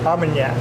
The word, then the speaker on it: Armagnac: Armagnac.